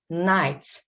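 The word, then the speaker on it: knight: pronounce c no muscle night night not the first letter answer not this letter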